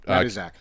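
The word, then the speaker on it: Matuszak: name mat Z Zack John matu Zach yeah mat Zack killjoy and then Ron Pearlman is Zeno um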